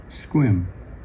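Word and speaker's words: Sequim: Departure Kingston, Port Gamble, Hood Canal, Discovery Bay to Old Fort Townsen, Protection Island, Schlalom, Squim Rhymes with Swim.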